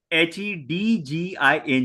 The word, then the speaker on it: hedging: H E D G I N G. Okay. Okay. Okay. Hedging. Okay. D is silent.